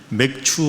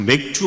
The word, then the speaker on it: 맥추: 7월 첫째 주일 맥추 감사 주일입니다 잘못 발음하시는 분들 자꾸 맥주 감사라 그러는데 맥추 감사주일입니다 보리맥 자에 가을 축자